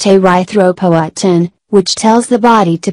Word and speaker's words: erythropoietin: Healthy kidneys produce a hormone called erythropoietin, pronounced erythropoietin, which tells the body to produce red blood cells carrying oxygen.